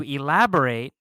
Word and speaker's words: elaborate: Now, be careful about the pronunciation of this word because you need to have the stress correct.